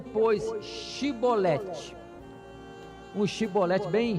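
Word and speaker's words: Shibboleth: só de atrair não então lhe diziam dise pronuncia pois xii bolette oxi bolette bem x xi boletim porém ele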